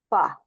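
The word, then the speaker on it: phở: In Vietnamese, the ph is pronounced like the f in fish and the o is similar to uh the tone is slightly rising and falling.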